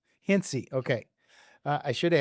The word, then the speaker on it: Hintze: we're really happy to have with us Christine Hintz. Is it Did I pronounce that right? Christine Hincy. Hinty.